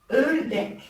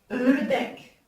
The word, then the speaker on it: ördek: Maintenant, le O avec deux points, il se prononce E. E comme exemple, Ördek, qui veut dire le canard. E, Ördek.